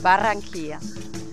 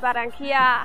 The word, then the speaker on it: Barranquilla: Barranquilla. Barranquilla würde man auf Deutsch wahrscheinlich sagen. In Spanisch sagt man Barranquilla.